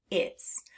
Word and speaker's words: is: So let's get out our hand tapping fingers and figure out how many sounds are in the word is.